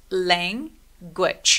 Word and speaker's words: language: 근데 맨 마지막에 E는 우리가 보통 소리를 내지 않죠. 그래서 맨 마지막에 오는 E는 그냥 묵음 처리, 없어진다고 생각해 주시면 돼요. 거의 대부분의 경우 소리를 내지 않기 때문에. 자, 그러면 얘는 몇 개의 음절이죠? 모음이 두 개였으니까 language 이음절인데 강세는 이음절에 옵니다.